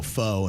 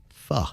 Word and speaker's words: pho: A lot of people do what Jaybird did, and they go pho, and it's pho.